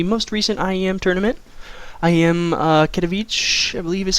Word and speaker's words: Katowice: IEM Katowice, I believe is how it's pronounced.